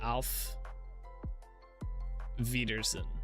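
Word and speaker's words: Auf Wiedersehen: Off is like out, but with F instead of T. Alf Wiedersehen.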